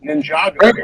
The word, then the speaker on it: Ninjago: Ninjago actually is the pronunciation.